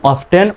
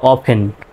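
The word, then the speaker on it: often: চে ও এফটি এন এটা দুইটা উচ্চারণ করতে পারবেন অফটেন অথবা অফেন। অফেন বলেটি উচ্চারণটা সাইলেন্ট হচ্ছে। তো দুইটি উচ্চারণেই সঠিক। অফেন বলতে পারবেন অথবা অফটেনও বলতে পারবেন।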